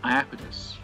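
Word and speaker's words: Iapetus: of an ancient ocean it was called aidus which is spelled i a p e t u s and from fact this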